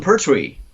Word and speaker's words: Pertwee: Yes, Pertwee.